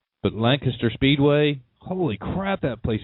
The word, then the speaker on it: Lancaster: It's spelled Lancaster, but the people of the city call it Lancaster. But Lancaster Speedway, holy crap, that place is huge.